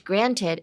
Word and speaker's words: granted: Um, it's that uh weird noise that your cat sometimes makes. It has the same um feeling in your throat like the same positioning in your throat.